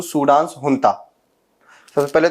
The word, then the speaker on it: junta: पे JUNTA लिखा होगा, जुनता, तो आपके सोच रहे होंगे कि जुनता को हुंता क्यों पढ़ रहा है। तो जहां पे वैसे JUNTA लिखा होगा उसको हुंता प्रोनाउंस किया जाता है।